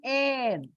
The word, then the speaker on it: heir: But you write an honest man, an heir. If you see here, H is silent, and that's why you get a vowel sound.